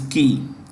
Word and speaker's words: Qi: So Wang Huning, K-Ki, Q-I is key.